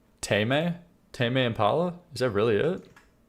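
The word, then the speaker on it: Tame Impala: Tame. Impala. Is that really it? Tame is in the verb to tame. Tame. Impala. Tame. Impala. Tame. Like to tame.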